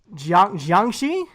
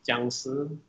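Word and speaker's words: 僵尸: Jeez, how do you your Chinese zombie figure, Jiangxi? Am I saying it correctly? It's the Chinese word for hopping vampire, so it's pronounced jiangshi.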